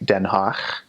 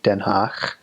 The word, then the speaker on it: Den Haag: It has a guttural G. So instead of G, it makes a sound. So like Den Haag, H-A-A-G, Den Haag, or Groningen, G-R-O-N-I-N-G-E-N. Make sure I spell that right.